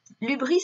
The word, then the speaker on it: hubris: Donc le Y ici se prononce U puisque c'est un mot grec que l'on reprend. L'hubris, c'est ce qu'on appellerait aujourd'hui la démesure.